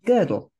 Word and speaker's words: Gödel: But he introduced me, not personally, but to this man called Kurt Gödel, G-O-E-D-L. And I think I pronounced it right.